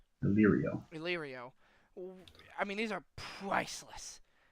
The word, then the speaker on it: Illyrio: Illyrio.